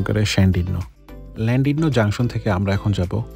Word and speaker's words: Llandudno: ইংলিশে লেখা বাট ওয়েলসের ভাষায় তারা ল্যান্ডিডনো কে উচ্চারণ করেন ল্যান্ডিডনো জংশন থেকে আমরা এখন যাব কনওয়ে ক্যাসেলে আমরা